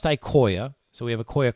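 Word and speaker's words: IQOYA: It's pronounced Ikoya, so we have a Koya Crosslink and a Koya ServLink.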